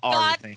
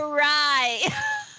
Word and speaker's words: awry: The word's Ari. Gone awry. God damn it! That ain't the way it's spelled.